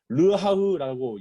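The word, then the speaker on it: רוח: 여기서 내 신이라는 것은 여러분 히브리어로 보면 무슨 말이냐면 르하흐라고 읽습니다.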